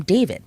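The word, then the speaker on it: D4vd: Burke, better known by his stage name, David, but spelled with a four.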